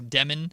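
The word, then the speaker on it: Demin: It's the pronunciation of his name. Igor Demen. It's Demond. Yeah.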